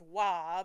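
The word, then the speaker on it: は: And then the sec the third ha is actually pronounced wah because it's because time is weird and changes language and it's a particle.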